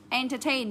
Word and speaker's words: entertain: của danh từ đi thì thường nó sẽ đọc là N, được chưa? Entertain, nhấn vào đây.